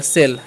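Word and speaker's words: sow: एस एस का तालाबे स ओ डब्ल्यू है तो उसका ओ करना है तो हो गया सो उसी प्रकार से आ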